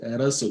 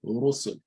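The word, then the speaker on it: رُسُل: So the Ra will be pronounced heavily with a full mouth.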